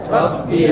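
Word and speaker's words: ربي: Lalu kalimat rabbiyal, rabbiyal. Nah, kalimat rabb ini tasdid karena banyak kami dengar itu bacanya cuma rabbiyal.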